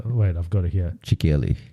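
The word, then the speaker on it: Qilin: I've got it here chickyelli it's like it's so it's spelled q-i-l-i-n but they pronounce it as Chillin I think chillin chillin chillin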